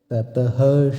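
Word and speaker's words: ততঃ: আছে তাতাহ আমরা জানি সংস্কৃতে কোন শব্দের শেষে যদি বিসর্গ থাকে তাহলে সেক্ষেত্রে বিসর্গের জায়গায় হ এর উচ্চারণ হয় তাই এক্ষেত্রে শব্দটির উচ্চারণ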